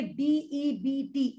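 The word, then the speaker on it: debt: वो मेरा डायरेक्टर है असल में ये डेट एक वर्ड होता है डेथ बी साइलेंट है डेट का मतलब होता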